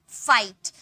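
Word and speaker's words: fight: फाइट। अब देखिए एफ का फ आई को हम लोगों ने आई में बदल दिया। और जी एच का कोई साउंड नहीं आया। यानी कि जी एस साइलेंट है। टी का ट का साउंड आया यानी कि फाइट।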